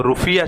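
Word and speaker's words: rufiyaa: यहाँ मुद्रा जो है वो रुफिया चलता है, रुपया को वहाँ प्रोनाउंस करते हैं और कुछ नहीं, ठीक है।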